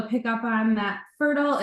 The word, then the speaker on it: PherDal: PherDal is spelled P-H-E-R-D-A-L, but pronounced Fertile, but spelled with a P-H-D out of spite, which is really what launched this entire journey I've been on.